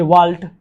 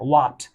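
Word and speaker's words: Walt: आप पढ़ोगे वाल्ट, बट गलत है, वाट, इल साइलेंट रहेगा, वाट विट मैन, व्हाट विट मैन, किसने लिखा है?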